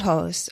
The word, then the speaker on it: hijos: You don't say mis the H. hijos. Okay, the H is silent.